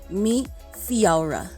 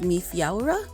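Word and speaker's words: Feabhra: is irish gaelic and the month of february is pronounced meet fiora so february is mi fiora and then the days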